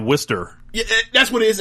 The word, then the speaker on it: Worcester: When it's spelled like Worcester, like it's like Worcester.